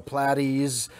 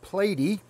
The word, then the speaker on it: platy: the mollies and the platies uh i always say platies but i realized the other day that it probably is pronounced platy because there's only one t it's so platy would